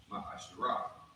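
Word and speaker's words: מעשר: It means 10th in Hebrew, and it's pronounced Ma'asherah.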